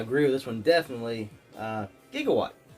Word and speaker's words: Gigawatt: Gigawatt, or Gigawatt. You can say it like Doc Brown.